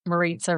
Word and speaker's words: Marita: And you know, it's my nickname my whole life has been because Marita rhymes with.